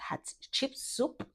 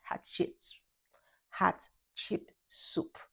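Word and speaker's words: Hatshepsut: They get to see Hot Chip Soup. That's how it's pronounced. Hat Hot chip soup.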